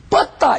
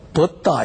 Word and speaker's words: 뻗다: 그런데 이걸 갖고 얘는 된소리 발음을 못해서, 뻗다! 이 소리를 못하고, 벗다! 이랬어요. 벗다.